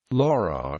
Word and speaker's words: Lörrach: Laura German pronunciation is a city in Southwest Germany in